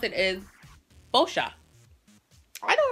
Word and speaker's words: Boscia: figured out that this brand, the way you pronounce it, is Boscia. I know, right? In my last video, I was saying stuff like Boscia and all this different stuff, but it's real simple, Boscia.